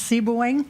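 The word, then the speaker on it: Sebewaing: tell me how to pronounce it correctly it's pronounced C booing you came very close very close okay very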